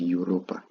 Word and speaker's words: Europa: of times as possible then Europa you can just say eur combine that Europa okay let us look